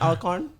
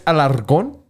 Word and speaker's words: Alarcon: Is it Alcorn? It's Okay, yeah. It's That's payback for what I did to your last name, but it's fine. It's Alarcon. Say it with See, me.